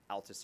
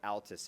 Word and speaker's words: Altus: And for those of you who are going to Altus, it's pronounced Altus, not Altus. That's very important, trust me. Very. Very important. You don't want to go down there and say Altus.